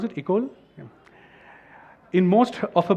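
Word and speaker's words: école: Intuit lab in Mumbai is that how you pronounce it ikol yeah in most of a books City and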